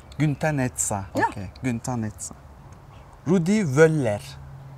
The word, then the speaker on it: Günter Netzer: Günter Netzer. Yeah, good. I don't have to correct it. Günter Netzer. Günter Netzer.